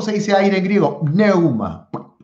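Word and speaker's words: πνεῦμα: Pneuma. Pneuma, con P. Neuma.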